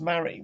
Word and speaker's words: Mari: again i'll remind you it is pronounced mary we we've gone we've